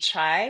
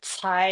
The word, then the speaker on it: Cai: So Keishi Chai is how you say it in English. And in Chinese, you usually flip the surname and the first name. So Cai is first and Kai Si is my name.